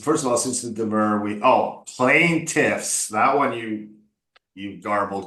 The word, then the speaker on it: demur: First of all, since the demur, but you're not going to be a lawyer, so you don't need to know this word.